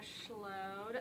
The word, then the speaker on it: Schload: other stuff okay sounds good so i'm schlow and thank you so much um for pronouncing my name right because everybody messes it